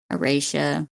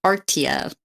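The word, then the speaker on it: Aretia: Aratia. Aratia. I think that's how they pronounce it in the audio book. I like how it was close where just look at the word. I'm pretty sure some people be like Artia.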